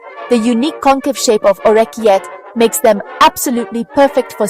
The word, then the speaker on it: orecchiette: Orecchiette, adorable little ears.